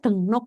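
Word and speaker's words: 등록: Satu, begukin dengruk. Registrasi orang asing. Bacanya denguk ya. Tulisannya denguk tapi bacanya denguk. Yang kedua ada jagyok ya.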